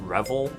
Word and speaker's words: REVVL: right or not but it is pronounced rebel apparently rubp else it's in